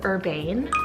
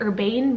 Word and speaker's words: Urbane: up with the name Urbane, so spell it U-R-B-A-N-E. Yeah, you could totally use urban as well, but I really like the ending of Urbane. I like that soft ending as opposed to urban.